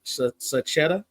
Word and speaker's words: Sachetta: I can't complain now is your last name pronounced s saetta you got it okay all right you